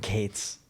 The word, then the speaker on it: Gaetz: a really good point, and it was Matt Gaetz. Is that how you say his name? Matt Gaetz?